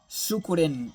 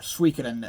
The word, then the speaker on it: Suikoden: There's also a Suikoden or Suikoden. I think there's a couple ways to pronounce it.